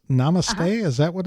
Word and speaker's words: Namaste: Mama says Namaste, is that what it's pronounced? Yes, Mama says Namaste.